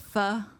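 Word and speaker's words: phở: It's It's pronounced pho.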